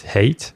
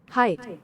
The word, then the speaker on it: height: By the way, I'm not sure at how we pronounce hate. And it is height. Height. So from now on, I will try to pronounce it correctly.